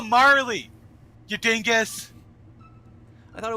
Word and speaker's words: Marle: Like, why do you keep Her name is not Marl. Well, how do you pronounce it? Marley? Yeah.